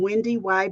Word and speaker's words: Wendy Y: I'm WendyY. Everybody calls me Wendy Y. Yes, you do pronounce the second Y.